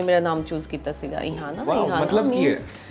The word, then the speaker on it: Ihana: So, everyone says Iliana, someone says Rihanna. So, वैसे मेरा नाम इहाना है जी, but I think all whole credit goes to my dad.